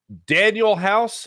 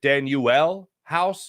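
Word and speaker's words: Danuel House: last night and um Daniel house I believe is how Doc River says it Danielle house is how it's uh pronounced on the old uh NBA reference or uh pro basketball reference whatever uh but he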